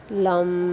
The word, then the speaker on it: लं: लेकिन "लाम" का उच्चारण कंपन के साथ करें, जैसे "लाम"। इसे जितना हो सके उतना लंबा खींचें, और इसमें कंपन अवश्य होना चाहिए।